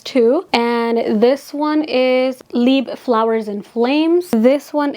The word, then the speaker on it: Libre: original YSO leeb will forever be my favorite. It is pronounced leeb by the way.